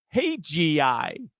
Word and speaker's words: Hajayi: her name in parentheses she actually tells you how to pronounce it. Hey GI Hey GI so okay I'm going